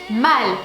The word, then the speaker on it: Mal: Restons sur le personnage de Marion Cotillard, Maud, qui en français se prononce mal.